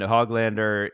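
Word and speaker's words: Höglander: I'm just blowing money uh losing PDG and hoglander in this game means we're missing some quality Adam name pronunciations yeah now I just do it for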